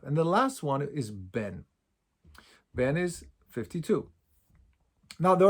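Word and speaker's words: ב״ן: But the last one we called Ben, or some people call it Ban. In the yeshivas where I learned, we called it Ben.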